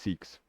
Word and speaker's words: SCCX: So I'm just going with SCCX for now, but it's pronounced Seeks.